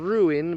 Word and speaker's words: ruin: Then there is also the UI, which is pronounced in ruin, but that's in 2 syllables, ruin.